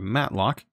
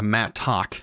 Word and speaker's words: mattock: So I'm basically going to get rid of them, and now I have a matlock. Or a mattock. I don't know why I call it matlock. It's a mattock.